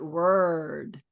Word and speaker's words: word: Do you hear my growled r word? Not what. Not what, but word. Word. In English, we growl. These vocalic Rs. We growl them. We have to hear every R in every word.